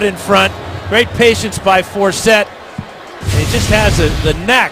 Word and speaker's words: Forsett: to pronounce his name, it's like Dorsett, Tony Dorsett, Justin Forsett, and it's Forsett down the sideline.